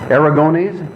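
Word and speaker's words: Aragonés: In Mad Magazine number 2, Sergio, and I'm going to say his name wrong, Aragones.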